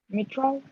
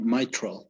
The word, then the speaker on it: mitral: about this one would be like metro or not it's uh mitral actually my microphone my true